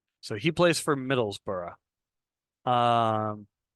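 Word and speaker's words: Middlesbrough: so he plays for Middlesboro um just trust me that that's how it's pronounced I realize that's not how it looks we also see that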